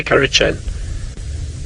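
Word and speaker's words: Kurrichane: carrot Ronnie hurricanes and people pronounce it courage and I say curry Chen button quail and then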